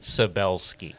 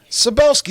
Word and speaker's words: Szabelski: Tony Szabelski. Szabelski. See, I knew that. You should know how to That's pronounce Polish.